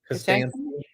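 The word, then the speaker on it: Kostanski: Kostansky.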